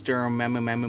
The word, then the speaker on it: Dormammu: Well, they both pronounce the name wrong. It's Dormammu.